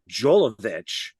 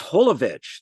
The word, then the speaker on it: Jovovich: We worked on this movie for months, and you don't know how to pronounce my last name." It's Holovich. The J is an H.